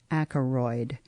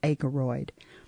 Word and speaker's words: Ackeroyd: it's joseph j o s e p h acroid a-k-e-r-o-y-d i mispronounced that it's akeroid colon rediscovering a prison reformer by ron r-o-n